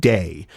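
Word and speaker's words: Deigh: Liam and Liam's dragon, who's named Day. Diegh is how that is spelled.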